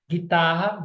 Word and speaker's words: guitarra: do U tá bom guitarra guerra foguete fogueira todos são dígrafos porque eu não consegui consegui escutar o som do U desço cresça renasço nasço